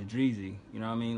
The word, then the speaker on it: Dreezy: to it, and she kind of pronounced her name wrong. I was like, no, it's Dreezy.